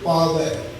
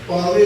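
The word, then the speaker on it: ਪਾਵੈ: इतने असीं जदों उच्चारण करने हर के नाम बिना दुख पावै, इस वावे उत्ते लगियां हुई दुलावां का उच्चारण जरूर करना। पावे नहीं, पावै। हर के है, हर कै नहीं।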